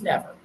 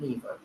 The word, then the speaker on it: never: I split it here it is not NE it's never yeah so if it doesn't sound right try the other sound so this is silent same division but it's not nether it's never on your